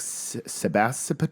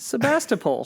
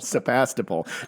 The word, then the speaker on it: Sebastopol: I was like Sebastian so how do you say it it's a Russian name Russian immigrants came and they they named it we have a sister sister stayed over in the Russian homelands Sebastopol Sebastopol do you know what